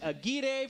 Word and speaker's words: Aguirre: And Aguirre from Chile. It rhymes, one. Pete. Aguirre from Chile. Got it. There you go. Now you will always remember. That's called a mnemonic.